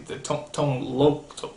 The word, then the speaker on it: Tone Lōc: it did teach me the proper way to say tone lock tone loone I'm the noasa cck